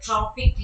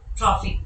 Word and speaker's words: trophic: this to be a tropic level of energy transfer please note down this pain trophic level trophic tropic these two uh pronunciations uh are in use industry in the for for